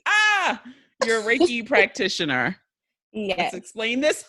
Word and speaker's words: Reiki: Ah, you're a Reiki practitioner. Let's Yes. explain this to the people. Yes. So Reiki is this universal life energy that we all have access to.